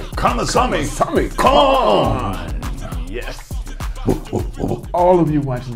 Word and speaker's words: Kamasami Kong: Kamasami Kong.